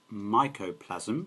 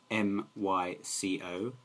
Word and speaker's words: mycoplasma: had a condition called mycoplasm i'll spell that for you m-y-c-o-p-l-a-s-m-a that's microplasma sorry it is mycoplasma not mycoplasm and basically what happened